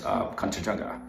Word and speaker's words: Kanchanjangha: So try to break that word in 4 different parts. So first is Kan, second is Chun, third is Jung, and the fourth one is Ga.